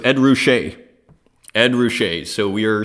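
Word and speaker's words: Ruscha: you chiming in there and so it's Ed roushay Ed ruche so we are slightly more sophisticated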